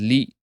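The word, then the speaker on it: لِ: So the lamb is pronounced as lee or okay it basically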